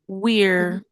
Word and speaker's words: we're: O r não é pronunciado, desculpa, o e não é pronunciado. O i aqui é longo, we, acrescenta um r, we're.